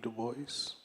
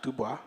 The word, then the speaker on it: Du Bois: our relationships to web Duboce. Um, and it is Dubo, not Dubois.